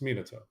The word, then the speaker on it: Minato: It's just the way you pronounce Minato is what threw me off. I heard Hinata, like. Okay. Yeah, I heard it too. But again, I think I get why it's Minato. It's Minato.